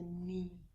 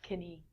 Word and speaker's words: knee: in the middle is a knee not kenny looks like kidney next one